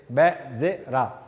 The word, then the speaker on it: Bezzera: Basically, it's Bezzera. But don't worry, it's a Portuguese name pronounced in Italian, so everybody make mistake.